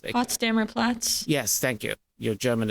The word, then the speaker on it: Potsdamer Platz: The Platz, I can't pronounce it. Potsdamer Platz.